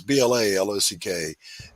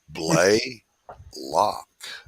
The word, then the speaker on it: Blaylock: doc blaylock on youtube it is spelled like it sounds bla lock in spite of the fact that it's spelled exactly how it sounds all my life i've gotten teachers that would go um christopher blah blah blah blah blah come on it's not play lock stay with me play